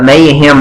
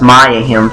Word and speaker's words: Mayahem: that name mixed up mayem and mayahem I think it's actually pronounced mayahem Temple anyways I